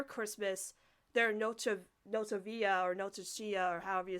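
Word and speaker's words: Nochebuena: Casagrandes celebrate their Christmas, their Noche Via or Noche Chia or however you say it, their Christmas is celebrated on Christmas Eve. So we were kind of connecting that maybe Noche Buena, thank you.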